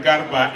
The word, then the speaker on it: Garba: That R in Garba is not like the English one. It's always pronounced. Nigerian languages don't hide any letters in their words.